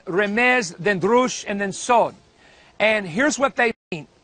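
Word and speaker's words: סוד: The fourth level is called, it's spelled in English, S-O-D-E, but it's actually the word sod, and it is the word for mystery.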